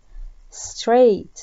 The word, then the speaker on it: straight: walk straight. straight عندنا حرف الجي والإتش لا تنطق.